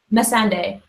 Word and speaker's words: Missandei: So how do you pronounce her name? Because I always get it wrong. Cersei's advisor? Yeah. Missandei. Missandei? That's how I've always said it. I always say Miss Sunday. It sounds the same.